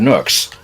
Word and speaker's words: NUK: brothers, and they had nooks. And I also refuse to believe that that is the brand. There is a brand called NUK. I would pronounce that Nook. I always think of Nook as NOOK.